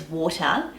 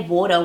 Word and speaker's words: water: D sound and again if someone says water or butter then that's still correct often people will use both so they might say water one minute and then say water the next I often noticed